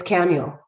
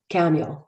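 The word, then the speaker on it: Camael: it was like it's camuel camuel like samuel but with a ch but it's pronounced with a k and i was like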